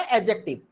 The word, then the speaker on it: adjective: एडजेक्टिव नहीं पढ़ते हम उसे, वी can pronounce it एडजेक्टिव। D silent होता है। ए और जे के बीच में अगर डी आता है तो वो डी आपका क्या होता है? साइलेंट।